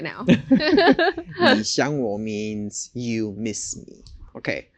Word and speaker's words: 你想我: 你想我 means you miss me. Okay, so and the pronunciation was 你想我.